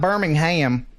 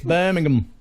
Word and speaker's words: Birmingham: me to pronounce it yes it's not it's not Birmingham in the UK it's Birmingham more than 70 firefighters tackle